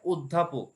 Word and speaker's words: অধ্যাপক: এক্ষেত্রে অধ্যাপক এটির উচ্চারণ হয় অধ্যাপক, অর্থাৎ অ এর উচ্চারণ ও এর মতো উচ্চারিত হয়, তাই এখানে অ এর উচ্চারণ হচ্ছে সম্বৃত।